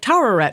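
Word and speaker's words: Taweret: tet the Egyption goddess of fertility yeah you pronounced it right towett more on that later hint when I wonder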